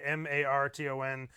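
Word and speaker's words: Márton: Yeah, so it is Martin with like an Oh. accent on the A, Marton and.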